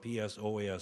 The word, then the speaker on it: psoas: The intestine is fed by the same nerve supply that feeds the psoas muscle. It's spelled P-S-O-A-S, psoas, pronounced psoas muscles.